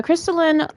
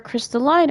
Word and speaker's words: Crystalline: Crystal the Crystallin Orthodox or Crystalline Orthodox depending on how you want to pronounce it.